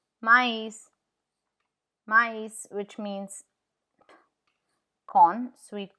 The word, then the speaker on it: maïs: It shows that the vowel on which it is placed, the two dots is placed, is pronounced separately from the vowel before it.